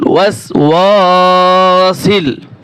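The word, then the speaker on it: الوسواس: এটা আপনি 10 বার পড়বেন, মিন শাররিল ওয়াস ওয়া, সিন লাম জের সিল, মিন শাররিল ওয়াস ওয়াসিল। আমি আপনাদেরকে ভেঙ্গে ভেঙ্গে বলে দিচ্ছি যাতে আপনাদের উচ্চারণ করতে সুবিধা হয়।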